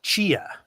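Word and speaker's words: Tchia: pronunciation, Chia. Chia, yes.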